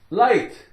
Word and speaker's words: light: GH, silent. L-I, lie. L-I, lie. T, light, light.